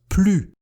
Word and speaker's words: plus: Avec des adjectifs et des adverbes, on prononce plus, ici en alphabet phonétique. Plus jeune, plus petit, plus facilement. Et on fait la liaison si l'adjectif ou l'adverbe commence par une voyelle. On prononcera donc plus intelligemment, plus agréablement, plus utile.